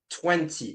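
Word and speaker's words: vingt: In 20, we don't pronounce the G and the T in the end, okay? We just say 20. It's like, remember number 1, but you have a V sound at the beginning, right?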